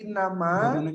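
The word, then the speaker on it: إنما: Innama, nah, ini innama digabungkan. Sesungguhnya. Jadi jangan inna sendiri, ma sendiri. Tapi ketika ada inna ketemu dengan ma, maka digabungkan. Jadi bacanya innama.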